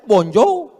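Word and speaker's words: bonjour: Tulisannya bon jowur bacanya bonjou.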